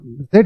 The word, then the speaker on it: Z: अगर कोई भी बच्चा आपसे पूछता है कि मैं इसकी प्रोनाउंसिएशन जी कर रहा हूं तो मैं क्यों करूं, और जेड नहीं करना है तो मैं क्यों करूं, तो